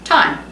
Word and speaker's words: thyme: it i oh yeah time just like t i m e why don't they spell it like t i m e why would you spell it t t-h-y-m-e thyme thyme leaves